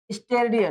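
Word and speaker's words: steradian: स्टेरेडियन। हाँ याद है ना? स्टेरेडियन। क्या बोलेंगे? स्टेरेडियन। ठीक है, स्पेलिंग अगर चाहोगे तो STR, स्टेरेडियन, रेडियन।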